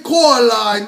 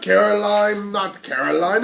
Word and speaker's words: Coraline: They kept saying Coraline, not Caroline at all."